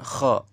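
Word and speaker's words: خ: Kemudian yang keempat, keluar dari ujung kerongkongan, lebih dekat dengan mulut. Mana nomor 4? Ini, yaitu huruf ghin dan kha.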